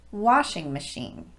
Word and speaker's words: washing machine: are de-emphasized for example washing machine the stress goes on the first syllable of washing and both syllables of machine are de-emphasized so it's washing machine not washing machine here's another one coffee